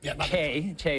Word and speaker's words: Choi: Yeah, absolutely, because it's 100% clear that Madam Choi, Chae is better pronunciation, had access to a lot of classified materials.